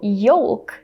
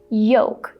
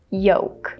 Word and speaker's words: yolk: And so it would make sense for the letter L to be pronounced just like in the word color, for example. So yolk, that's how many people say this word. But unfortunately, in this word, the letter L is silent. So we have to say yolk. Again, imagine that you're trying to rhyme this word with the word joke.